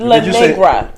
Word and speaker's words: La Negra: La Negra. La Negra. Like it's like. Is it spelled like Negra? Negra. Yeah, that's Negra.